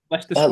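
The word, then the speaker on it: Leicester Square: Lester Square.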